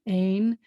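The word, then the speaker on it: אין: is this word here it starts with an olive which is silent essentially and then you have the e with the yud when i have an air with a u then it always is a so that's a and a final noise ain means there isn't or there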